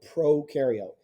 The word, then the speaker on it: prokaryote: membrane that's called a prokaryote if it helps you to remember pro rhymes with no because prokaryotes have no